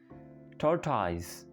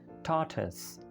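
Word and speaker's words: tortoise: टॉर्टाइज, ऐसे ही बोलते हैं, हमने सुना भी ऐसे है टॉर्टाइज, लेकिन करेक्ट प्रोनाउंसिएशन है टॉर्टस, टॉर्टस, ओके, टॉर्टस, या अगर थोड़ा सिंपल करें तो टॉर्टस, टॉर्टस, लेकिन टोरटॉइज ऐसा कोई वर्ड नहीं है।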